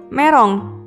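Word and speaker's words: メロン: Berikutnya adalah gambar buah melon yang dalam bahasa Jepang adalah merong.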